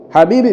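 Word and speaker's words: حبيب: Habibi bifath inatamkwa kwa kutia fatha ile herufi isiyokuwa na kitone juu ambayo ni he tamam.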